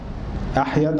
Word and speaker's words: أحيد: أحمد بن الحسين، وأحيد بن الحسين، أحيد على وزن أحمد برضه لكن بعد الحاء ميم ياء وليس ميما مثله، لكن بدل الميم ياء تحتانية، وهو شيخ بخاري يعني من بخارى، يروي عنه عبد الله بن محمد البيكندي.